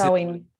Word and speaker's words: Sawin: No sé cómo se pronuncia Clara, pero es Sawin, Beth ¿no? ¿Cómo le dice? Sawin, Sawin.